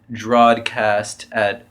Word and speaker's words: drawedCAST: o d it's right it's drao as in like the past tense of draw if the past tense of draw wasn't Drew or drawn drawn or Drew yeah it could be